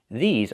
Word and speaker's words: these: These are cars. Not this is cars, but these are cars. Pronunciation. Make the long e sound like green beans. E. These plus the zz sound like zebra.